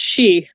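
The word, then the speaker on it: sidhe: s i d h it's literally pronounced she s d h e but it's she but it's fairy yeah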